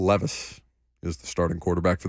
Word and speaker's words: Levis: out do he said he said will Lis yes he did mispronounce the name Will Levis is the starting quarterback